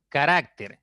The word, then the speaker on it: carácter: Carácter es una palabra de 3 sílabas. La mayor fuerza está en la segunda sílaba.